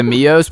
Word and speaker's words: Mio: Everybody knows that I just came up with that, so if Mios, is that how you say it, Mios? It's Mio. It's just Mio. Oh, if Mio steals my idea, dude, you guys are fired.